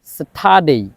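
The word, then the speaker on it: Saturday: এই যে স্যাটারডে, আমরা এতদিন বলতাম স্যাটারডে, এটা হবে স্যাটারডে। স্যাটারডে অর্থাৎ আর এর পরে যে ডি আছে যার কারণে আর এর উচ্চারণটা হয় না, এই জন্যই আমরা বলি স্যাটারডে, স্যাটারডে।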